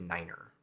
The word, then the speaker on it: niner: One of the ones that, the most common one that you might hear is niner.